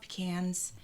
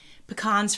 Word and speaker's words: pecan: I love pecans. Pecans, for whoever pronounces it like that, pecan. Heard it both ways.